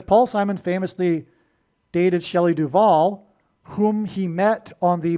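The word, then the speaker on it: Duvall: But Simon famously broke up with Shelley Duval, which also rhymes with Hall, at the airport before she got onto a plane to the UK to film the movie The Shining.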